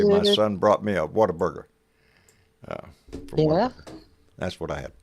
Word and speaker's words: Whataburger: No, what a burger. What a burger. It's not a water burger.